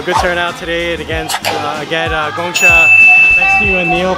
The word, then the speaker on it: Gong Cha: How do you pronounce Gongcha? Gongcha.